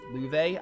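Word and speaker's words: Loewe: I keep forgetting to pronounce his name as Luve, because apparently it's pronounced Luve. I will try to remember, but I might still say Lo on instinct.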